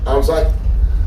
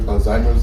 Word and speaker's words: Alzheimer's: Most people call it Alzheimer's, it's not really Alzheimer's, it's Alzheimer's. Right? And that's why black folks used to call it old timers disease. Actually, they are closer to the correct pronunciation than the so-called educated.